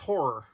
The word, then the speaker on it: ho99o9: band is ho9909 I'm being told that it's pronounced horror Okay then if you say so now that